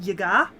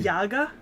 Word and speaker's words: Yaga: probably yeah yeah because so that's actually a common mispronunciation just in in western countries because russian phonetics you you put the emphasis on a different syllable but in russian it's yaga not yaga that makes sense it's